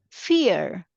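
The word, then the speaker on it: vier: other way I E when I have I E I take a sound of e this second letter I take a sound of e so I read it as fear like how you say in English fear okay the same sound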